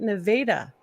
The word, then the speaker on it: Nevada: a city spelled the same way and they pronounce it Nevada oh if you if you don't call it